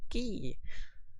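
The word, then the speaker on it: Quay: queer i know it's spelt queer but it's pronounced key um that's from 1986.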